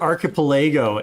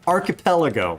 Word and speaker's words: archipelago: I pronounced it Archipelago in the Wagstaff episode, and some guy was totally ripping on me for mispronouncing Archipelago, which the proper pronunciation is Archipelago.